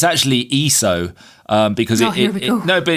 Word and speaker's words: ISO: Um, because No, but it's an abbreviation of the word ESOS, which is Greek for equal. So, if you're going to abbreviate something, then you should at least keep the same pronunciation of the of the thing. But nobody says, you know, I set my camera to 400 ESO.